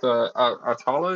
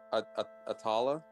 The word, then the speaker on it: Atala: you called her yeah how do you say it Lou exactly aala yeah atala yeah she should uh the name should be changed in the journal now but yeah it's a tala all right and doodles